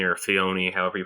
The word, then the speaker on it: Filoni: I was you mentioned Will, Dave Filoni or Fioni, however you pronounce him. Filoni.